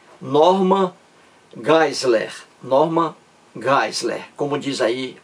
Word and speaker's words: Geisler: o nome do Norman Geisler. Eu digo Geisler em português de forma aportuguesada, né? Nome estrangeiro. Então, Norman Geisler, eu digo. A pronúncia correta é Norman Geisler.